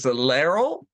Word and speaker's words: Laurel: Laryl. Yes. Okay. So Laurel, it rhymes with barrel.